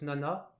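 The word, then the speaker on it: 七: 7, on le prononce nana.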